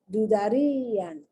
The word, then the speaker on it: dudarían: Dudarían. Now, the reason you have the accent is to tell you that that I is pronounced like a strong I, E.